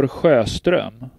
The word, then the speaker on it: Sjöström: guide on YouTube, like, I looked up the name Victor Sjöström and discovered that it's supposed to be pronounced like Victor Sjöström. Like, I was okay with the J being silent. I expected the J to be silent. When the first S was silent, it unsettled me.